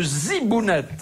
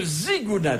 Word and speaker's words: zigounette: Noter qu'il ne s'agit pas de zbounette mais de zigounette avec un g comme dans on a toujours dit